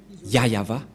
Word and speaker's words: Yahvah: voit rien et donc c'est bien la prononciation de son nom yayava voilà le ya et